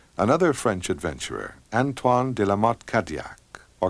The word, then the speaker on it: Cadillac: French Adventurer antoan damat kadak or Cadillac as his name is pronounced in English had been sponsored by